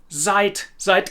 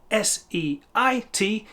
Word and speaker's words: seit: So the word zeit, which is a verb, ihr seid, is exactly the same in pronunciation terms as seit gestern.